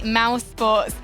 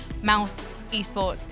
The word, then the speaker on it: mousesports: Do check that spelling, because when I first came into esports, I definitely mispronounced that. I thought it was mouse esports, because I was already a boomer when I began in esports.